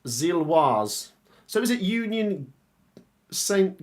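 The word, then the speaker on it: Gilloise: Okay, just to remind you, Gillowy is pronounced Zilwaz.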